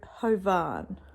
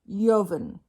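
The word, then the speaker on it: Jovan: I be pronouncing it so J OVA n I'm thinking oh ho Vaughn let's see if I'm right I got it wrong it's Yavin yahan that is the pronunciation of this man's name it is Serbian there we go let's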